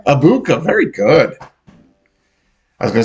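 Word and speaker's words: Egbuka: Abuka. Very good. I was going to say Emeka Obuyao.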